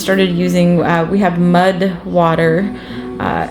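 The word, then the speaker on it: MUD\WTR: Um my husband actually just started using uh we have mud water. Uh I think it's m u d wtr. I don't think it the water part is spelled out, but it's a mixture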